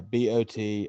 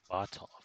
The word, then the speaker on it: Botolph: How do you spell that? B-O-T? Yeah, Botolph. O-L-P-H. I see it here. Yep. Saint Botolph.